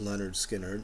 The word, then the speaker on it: Lynyrd Skynyrd: a double album of Lynyrd Skynyrd their first album pronounced leonard skinner and the other side